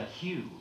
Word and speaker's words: HU: and it's called the hugh h uq2 letters it's pronounced like the name Hugh like Hugh Jackman or the pastel Hugh